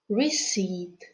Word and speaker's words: receipt: letter p is silent let's learn to pronounce some other words that have silent p so listen and repeat psychologist cupboard raspberry receipt well done now let's